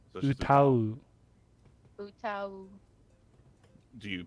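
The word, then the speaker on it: 歌う: Utao U? tame No, What? it's Google Trend. yeah, Utao? No. it's So just utau.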